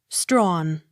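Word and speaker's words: Strachan: m o u r seemer accent on first syllable s t r a c h a n strawn t a d e m a tatama accent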